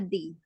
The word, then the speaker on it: the: Kalau vokal jadi cara membacanya pakai the apa di? Pakai di, berarti di embassy.